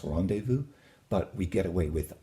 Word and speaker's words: rendezvous: In English it would be rendezvous, but it's rendezvous.